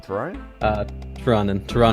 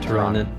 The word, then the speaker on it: Tirannwn: Why did you pick I think that's not pronouncing right. Is it Terrarian? Tirannwn.